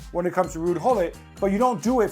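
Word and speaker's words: Gullit: We're not Dutch and we pronounce the G as Gullet. When he comes to England everybody's like oh look it's Rude Hol.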